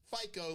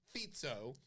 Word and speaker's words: Fico: minister of Slovakia Robert fito that's how you pronounce it it's not FICO like your credit score it's fito fito yeah spelled FICO tried